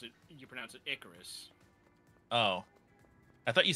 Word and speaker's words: Icarus: In modern day, you pronounce it Icarus.